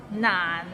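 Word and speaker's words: 難: Nan, it's not nan. It means difficult and it's difficult to pronounce. So it start with n and ends with another nan and is in a low tone.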